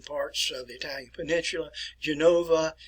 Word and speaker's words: Genova: And I will pronounce these in Italian for you. Venetia, which is in the north and the eastern parts of the Italian peninsula. Genova, Milano, Bologna, Palermo, which